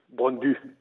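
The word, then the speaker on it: Brøndby: Il y a une ambiance de feu et que Bronby va passer. Si je peux si je peux me permettre. Ouais. Le Y en danois se prononce U Bronbu s'il vous plaît.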